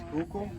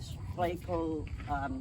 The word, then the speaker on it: Schuylkill: Schuylkill?